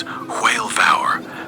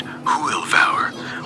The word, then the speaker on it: Hwyl fawr: For goodbye, the most common word is "Hwyl fawr," pronounced "Hoo-il vow-er," which literally means big cheer or good luck.